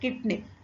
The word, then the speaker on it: CIDNP: It is usually pronounced as kidney.